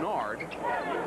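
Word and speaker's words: Nared: N-A-R-E-D is how it's spelled, pronounced Nard.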